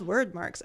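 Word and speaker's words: Wyrdmarks: like oh they're called word marks and word marks is with a Y so w y r d m a r k s surprisingly I had no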